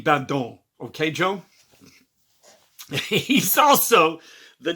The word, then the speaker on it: Badon: That's how I'm going to pronounce it from now on, because I Googled pronunciations and it's like a French thing. So it's going to be Badon.